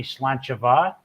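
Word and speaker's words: Slàinte mhath: And same thing like when you see Slanchava, it's an MH becomes a V as well.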